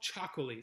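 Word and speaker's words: Txakoli: from spain uh it's it is spelled t x a k-o-l-i and they said it's a white wine but what is it similar to yeah so it's it's called chocolate so that's also from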